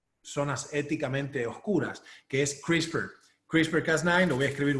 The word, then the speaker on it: CRISPR: Lo pueden buscar como CRISPR, me puedo haber equivocado en el spelling, pero se pronuncia CRISPR abajo.